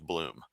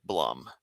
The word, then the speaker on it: Bloom: Uh I said Blum. And afterwards, I felt bad, but I hadn't trained myself that it was Bloom. Blu M was with a long U sound instead of a short U sound.